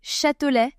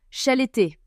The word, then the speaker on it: Châtelet: Il essayait de prononcer Châtelet mais c'était genre chaleté.